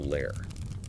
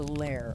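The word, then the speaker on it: lehr: The newly formed glass pieces are carefully moved through a long tunnel-like controlled furnace known as a lair. That's L E HR pronounced lear. The lair.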